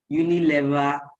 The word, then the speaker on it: Unilever: Just before the participants came on the call, I was asking her what the correct pronunciation, because typically we'll hear Unilever. She confirmed that it's actually Unilever.